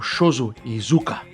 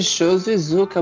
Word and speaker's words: Shozo Iizuka: ator que é o Shoso Iuka. Certo, Dani? Já corrije a pronúncia agora. Já, certo, Gil. E nós vamos falar de show e Zuka. Muito bem, muito bem. Fale certo.